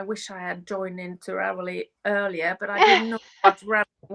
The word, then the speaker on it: Ravelry: how you pronounce Ravelry? Yeah. Ravelry?